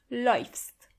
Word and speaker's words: läufst: Du läufst. As you can see, we have to change the a into an ä. So it's läufst.